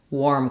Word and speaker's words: warm: So I wore warm clothes. This is another tricky spelling where when we add a W to words with AR, they usually just say the OR sound rather than the R sound.